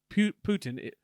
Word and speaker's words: Putin: If our one viewer in Russian, Putin, how do you say it? Putin.